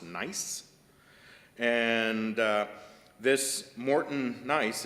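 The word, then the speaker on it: gneiss: is called the Morton nice it's spelled g-n-e-i-s-s but it is pronounced nice and uh this Morton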